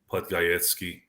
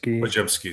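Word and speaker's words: Podziemski: Someone like Triple J from Miami, Podgajewski. Is that how you say it? I keep asking the same question. Pajemski, sorry.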